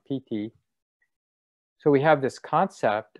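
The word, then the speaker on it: pīti: of meditative joy 50 p-i-t-i pt and the i is like a long e sound pt so we have this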